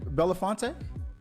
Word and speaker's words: Belinfante: Miss, am I saying it correctly, Belinfante?